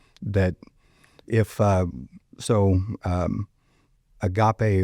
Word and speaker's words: agape: if uh so um agape or as CS pronounce it agapy um I'm assuming he's right because he's CS Lewis um and I don't I've always heard as agape, but I'm not like I'm not the most educated person.